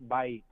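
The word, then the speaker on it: בית: Yeah, and house is actually pronounced Bait.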